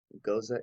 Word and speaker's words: Gose: Gose is how Gose is supposed to be pronounced.